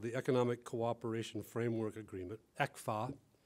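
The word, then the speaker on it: ECFA: Economic Cooperation framework agreement exa which in Taiwanese has a certain good sound pronounced that way as producing prosperity economic cooperation framework agreement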